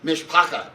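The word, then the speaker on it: משפּחה: In Yiddish, the word mishpaka, Mark, pronounce it for me? Mishpacha, just like Mark.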